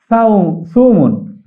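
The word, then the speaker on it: ثوم: সৌমুন অর্থ, এটি সা দিয়ে, এটি সিন নয়, সদ নয়, শব্দটি হচ্ছে সা।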